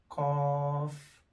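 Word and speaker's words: ق: comes in the beginning cough cough back of your tongue when it touches up is the cough a bit round and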